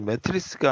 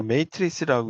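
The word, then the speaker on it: matrix: 영어 사전에도 매트릭스라고 나오는데 매트릭스가 아니라 메이트릭스라고 읽으세요.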